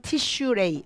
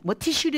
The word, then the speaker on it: 티시레이: 일곱 번째 이지만 , 일반 적 인 발음 은 다음과 같습니다 . 티시레이 . 티시리 의 말 도 틀리지 않다 . 하지만 우리 는 보통 그것 을 이렇게 부릅니다 . 티시레이 월 .